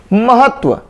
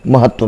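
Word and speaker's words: महत्त्व: महत्व, ये अक्सर आप देखेंगे महत्व इस तरीके से लिखा रहता है, म, ह, आधा त और व, जबकि ये महत्व जो लिखा हुआ है ये अशुद्ध है। सही महत्व कैसे लिखा होता है, म, ह, फिर आधा त, फिर आधा त, फिर व, ये वाला लिखा होता है। 2 बार इस तरीके से लिखा होता है, वो शुद्ध है महत्व में।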